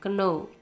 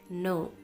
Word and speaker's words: know: Know, bacanya jangan baca know, tapi no. Kita membaca tidak, no, no. Nah, ini sama cara bacanya dengan know.